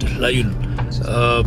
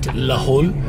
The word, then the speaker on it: Lahaul: They write Lahaul, which is actually not the right pronunciation. It should be Lahaul, not Lahaul. Lahaul, I think, you know, after a long time, people kind of, you know, they change the way you say the name.